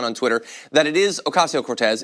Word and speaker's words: Ocasio-Cortez: Twitter, that it is Ocasio-Cortez. It's not Cortez. You don't get to decide that you're just going to say half of her name.